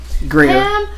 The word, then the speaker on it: Grier: I was trying to figure out how to pronounce her last name. Pam Grier. Greer.